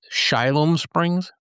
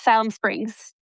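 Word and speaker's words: Siloam Springs: Is that pronounced Shiloh Springs? Yes, Salem Springs.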